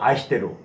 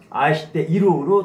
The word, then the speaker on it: 愛してる: 그래서 아이시테이루지만은 보통 이 발음을 하지 않죠. 아마 아이시테루 이렇게 들어봤지만 아이시테이루로 들어본 적은 거의 없죠. 맞습니다. 아이시테루 또는 아이시테루요. 이게 우리말로 사랑입니다. 그래서 아이스루가 아니라 항상 아이시테루 하고 있다.